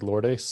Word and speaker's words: Lourdes: name with him lord i've heard lord is like lourdes lourdes lord is curio lord